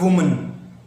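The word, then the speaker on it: women: The white वुमन, वुमन you have to pronounce it वुमन। वुमन is singular, विमेन, विमेन is plural.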